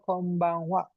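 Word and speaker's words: こんばんは: Konbanha dibacanya kombang wa. Jadi ha yang berdiri sendiri berada di tengah kalimat atau berada di akhir kata atau kalimat dibacanya waa.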